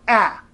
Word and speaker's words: ä: a with two dots and finished stands for ah that's right ah that sound that English speakers tend to make when they should really be saying ah well in this case if you see a